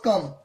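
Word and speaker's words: comb: कितना स्टूडेंट क्या होगा, इसको कम पढ़ेगा, इसको कॉम्ब पढ़ेगा, नहीं, ये कम तो हुआ लेकिन ये कॉम हुआ। बी साइलेंट है, बी क्या है? साइलेंट है।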